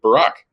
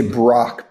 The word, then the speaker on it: Barak: or missays your name, if you say I'm Barak, that they say, oh, what would they mistake your name for? They would say Brock, B-R-O-C-K, but I think I should go with Obama.